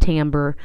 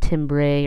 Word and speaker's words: timbre: know it doesn't look like it would be pronounced Tambor but that's how you say that word not timbre or something silly like that Tambor is the